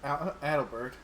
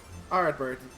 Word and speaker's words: Ardbert: 6 including Adelbert. Oh yes. Yeah, right. Did you say Adelbert? If I got his name wrong, I am bad with names.